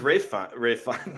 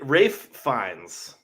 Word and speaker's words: Ralph Fiennes: This is Ralph Fiennes. It's Ralph? Yes. He goes by Ralph? It's Ralph. Story? I mean, I know it's spelt Ralph, but I thought he like pronounced it Rafe.